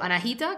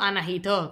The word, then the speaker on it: Anahita: sea, mal o peor, la pronuncio Anahita, que sería como la forma más occidentalizada, o Anahito, que es como se pronuncia en persa.